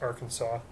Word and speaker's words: Arkansas: who I'm talking about from our Kanas it's actually pronounced Arkansas just want to see if